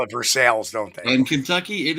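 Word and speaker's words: Versailles: but they call it versales don't they in Kentucky it is pronounced versales it is pronounced like it is spelled veres it's funny you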